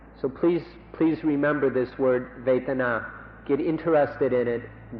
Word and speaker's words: Vedana: you in fact, to remember this word Vedana, or in Thai, Vedana. It's spelled in Roman letters V-E-D-A-N-A, Vedana or Vedana.